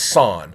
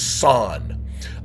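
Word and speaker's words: 三: Now three in Japanese is pronounced son.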